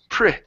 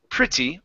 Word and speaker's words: pretty: short I so it's pretty pretty or pretty pretty print.printer uh-huh yeah so it's a short I sound we don't pronounce a short e it's pretty or pretty